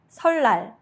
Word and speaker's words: 설날: When 니은 받침 meets 리을 or 리을 받침 meets 니은, both become a clear 리을 sound. Examples: 설날, New Year's Day.